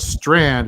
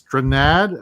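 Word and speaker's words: Strnad: He and Justin, it's not Strand, it's Stranad. I don't know how to pronounce it. It's spelled oddly.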